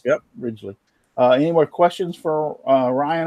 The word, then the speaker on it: Ridgley: Ridgley? Yep, Ridgley, just like the landmass. Yep, Ridgley.